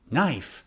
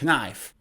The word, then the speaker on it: knife: this word knife right but the k is silent i don't know why we write it but we read this knife and k is shush knife not knife in this lesson we're